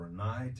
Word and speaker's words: Rinnai: And the Rinnai is spelled R-I-N-N-A-I. It looks like Rinnai, but it's Rinnai.